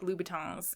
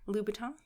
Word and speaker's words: Louboutin: Because he was buying Christina Aguilera like Louboutins and like those are like $800, $900 shoes. Sorry, what? Louboutin.